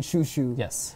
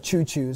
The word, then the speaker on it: Chu Chu: And if people are wondering, the commentators were pronouncing his name Shushu instead of Choo-Choo. So that's what we're gonna do. We're assuming that that's the correct way.